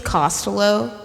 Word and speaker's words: Costello: Um, because Costello. Oh, Costello. No, that's how he actually pronounces his name. It's Costello. cuz it's like his mother's maiden name.